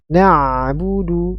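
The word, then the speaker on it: نَعْبُدُ: atau perubahan huruf ya jadi alirkan suaranya na'budu iyaka na'budu na'budu kemudian huruf setelahnya huruf ba domomah bu sempurnakan pengucapan domah kemudian Dal domah nabudu nabudu wa iyaka sama ya di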